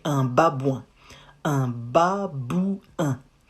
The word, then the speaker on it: babouin: Un babouin. Ba, bou, not bu, bou, un.